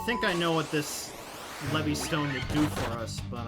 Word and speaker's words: Levistone: You obtain a Levy Stone. It's pronounced Levistone.